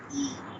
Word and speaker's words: y: By means and it is All pronounced as e. okay. It always means and only. Yes, it always means and, but it is pronounced as e.